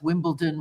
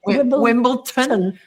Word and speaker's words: Wimbledon: that actually I've ever heard pronounced Wimbledon with a D correctly cuz if I hear somebody say Wimbleton, I just want to say Why I ought to, you know.